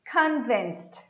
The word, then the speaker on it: convinced: Vamos pegar uma palavra, por exemplo, convinced, convencido. Eu tenho dentro dessa palavra vários fatores. Convinced, eu tenho um K, que é produzido diferente do português.